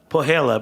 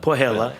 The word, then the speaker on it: Põhjala: Pohjala, but to me it looks like Põhjala. Pohjala. They pronounce things.